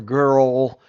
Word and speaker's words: girl: It's when the girl. base of your tongue pulls way back into your throat. So it's a different sound. It kind of rounds it off. If you do grr, ol, you'll feel your throat move. Girl, way down here. Girl. Yeah, Girl. see? Girl. The Girl. is up here, the L is down there, Yeah, and yeah.